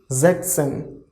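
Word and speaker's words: sechzehn: end of here see we are skipping as here so we will not write as in 16 in 6 that is s but in 16 we are not going to write so 6 is 6 16 is zackson jackson ok zackson same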